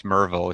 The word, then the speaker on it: Maryville: You're down in Murrayville, as they call it down here. Yeah, today. You know, we're new to the Tennessee. The human race calls it Maryville, M-A-R, but yeah, it's Murrayville.